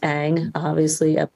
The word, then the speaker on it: Ng: pronounce my last name, spelled NG but it's pronounced Ang in the United States, but no one could pronounce it.